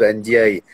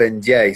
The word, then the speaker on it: Ndiaye: que dia et pape ndiaye donc pap ndiaye sans prononcer le n à la tête du